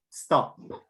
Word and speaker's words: stop: of the aspiration so aspiration is an expel of air like the h sound in english right so stop right but then you